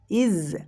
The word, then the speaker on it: is: দাও পড়ে থাকবে ইজ ইজ আমরা অনেকেই ইজ উচ্চারণ করি এটা কিন্তু ইজ নয় আমরা বর্গীয় জ এর উচ্চারণ স্বাভাবিক করছি না এখানে আমাদেরকে জেড এর সাউন্ড করতে হবে এরকম ইজ ইজ ইজ